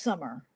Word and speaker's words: Samar: Uh it's Samar. Oh pronounced summer.